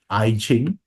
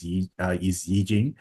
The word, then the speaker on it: Yijing: Okay, so and some of you might regard this as Ching. Yeah, so the right pronunciation is Yijing.